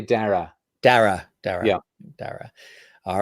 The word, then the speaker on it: Dara: How do you pronounce it? I would say Dara.